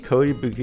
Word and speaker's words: Ko Yabuki: Ko Yabuki is the protagonist in this playthrough. Rhymes with Joe Yabuki, the Astana Joe protagonist.